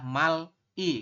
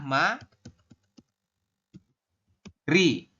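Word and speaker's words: 말이: secara tulisan gitu loh secara tulisan mungkin teman-teman akan membacanya adalah Mal I kayak gini Tetapi menurut aturan baca itu membacanya bukan Mal i teman-teman tapi dibacanya adalah Ma Ri seperti ini kalau kita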